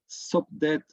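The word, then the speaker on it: Sopdet: So these two here, okay, and we are not quite sure if we pronounce it correctly, because you see here the SPDT. This is more or less what we think the consonants of this name were, and we usually call it Sobdet or something like that.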